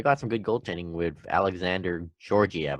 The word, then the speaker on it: Alexander Georgiev: And on goaltending, the Rangers, they got some good goaltending with Alexander Georgiev. I think that's how you pronounce it. Versus Carolina. That's how you say it.